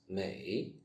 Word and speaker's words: 美: May, the same as May, 美丽, beautiful.